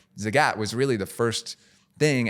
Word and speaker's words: Zagat: What was Zaget? Zagat. Zagat, which we learned in the process of acquiring it is how you pronounce it. Zagat like the cat.